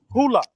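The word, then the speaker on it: Hulu: Is it pronounced Hula? Yes. Yeah, Hula.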